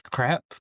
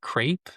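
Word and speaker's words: crêpe: We have all sorts of funny things like that in English, where in French it's crepe, but many people say crepe, and it's just this obvious mispronunciation.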